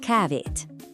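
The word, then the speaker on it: kávét: Serene edge cavit. Now, you might notice that cave, the word for coffee, has a little t sound at the end. Don't worry about the grammar. Just remember the sound.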